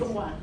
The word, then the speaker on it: Putonghua: Yes, Putonghua.